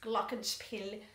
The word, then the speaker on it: Glockenspiel: for this is the Glockenspiel Glockenspiel is a German word and I learned German for many years in the past so I actually tend to pronounce Glockenspiel glocken means bells and